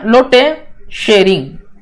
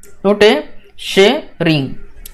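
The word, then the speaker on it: Lotay Tshering: Examination के लिए, fine लोटे एल ओ टी ए वाई, लोटे शेरिंग, लोटे शेरिंग, ओके ये टी जो है यहाँ पे साइलेंट लगा जाता है।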